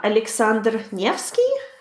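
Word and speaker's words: Александр Невский: 86 how do you say that name ah Aleksandr Nevski yes okay yeah that's another like very famous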